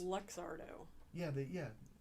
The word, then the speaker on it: Luxardo: in the 1820s by in italy by the lugardo family and i'm probably mispronouncing that i think it's luxardo yeah but yeah like zardo all i know